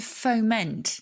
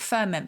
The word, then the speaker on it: foment: on countdown and it's to foment not ferment but foment um how'd you spell